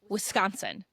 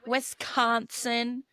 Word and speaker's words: Wisconsin: Also, just want to say it's pronounced Wisconsin. It's not Wisconsin. It's not Wisconsin. It's not Westconsin. It's just Wisconsin. You just let it roll.